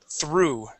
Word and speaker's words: through: So this word, we're going to practice the T, H, and R together. So through.